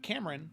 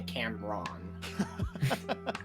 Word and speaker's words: Cameron: desmond uh played by cameron spelled with an e-r-o-n not just r-o-n um which now it says on the stream cameron not by cam ron exactly so yeah cameron um